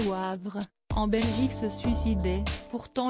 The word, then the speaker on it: Wavre: C'était il y a 37 ans presque jour pour jour qu'un couple de femmes habitant à Wavre, prononcé Wavre, en Belgique se suicidait.